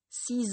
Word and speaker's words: six: autre que les voyelles on ne prononce pas la fin de six huit et 10 vous suivez on dit donc j'ai acheté six livres huit bières et 10 pomme est pas si ce